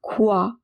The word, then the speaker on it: croix: Remember, oi is pronounced as oua. So it is croix. X at the end is silent.